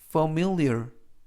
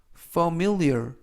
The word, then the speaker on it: familiar: familiar, familiar, familiar 이라고 발음하시면 되겠고요. 이때 강세는 가운데 부분에 있는 알파벳 I에 강세가 있습니다. 그래서 familiar 라고 발음하시면 좋겠고요.